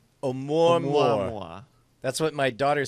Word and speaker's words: Oumuamua: Hold on, I'm gonna get the pronunciation here. Shut up. Eat. Oumuamua. One more time. All right, let me. Oumuamua. Oumuamua.